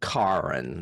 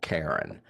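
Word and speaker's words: Karyn: I think it's and her name is pronounced Karen, not Karen.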